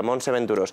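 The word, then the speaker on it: Montse Venturós: ] también en Barcelona se se pronuncia Monse venturos Basta ya de complicidades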